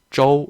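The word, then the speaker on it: 周: 중국의 9위는 저우라고 했지만 발음은 쪼우 이렇게 됩니다.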